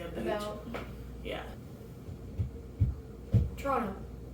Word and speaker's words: Toronto: I've been out yeah Toronto Toronto so we all skip the tea though yeah yeah yeah